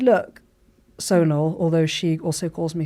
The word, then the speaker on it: Sonal: So she said, look, Sonal, although she also calls me Sonal.